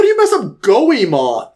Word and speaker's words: Goemon: But I'm like, how do you mess up Goemon? Like, it doesn't seem like... Gomen.